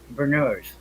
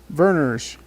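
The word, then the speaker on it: Vernors: Thomas Cantrell, and some of its most popular brands are Canada Dry, Seagram's, and Berners. Verners. Berners. Ginger ale. I thought it was Berners. I thought they pronounced it Berners.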